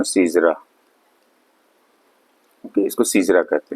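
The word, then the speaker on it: caesura: सीजरा, इसका प्रोनाउंसिएशन है सीजरा।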